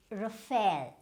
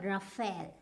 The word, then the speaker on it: Rafale: might be using it with, but the correct pronunciation is not Rafale, it is Rafale. So which means the stress is here, Rafale, right?